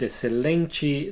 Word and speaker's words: excelente: the word xícara, and whenever a word has an X followed by a C, like the word excelente, these 2 letters will have the S sound.